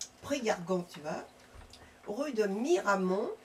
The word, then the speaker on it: Miramont: Donc vous pouvez écrire à Jean-Marie Balou B A L O U T Prargan tuas rue de Miramont comme ça se prononce Miramon 47350 Saint Bartelémi d'jeunet des apostrophes A G e N A I S.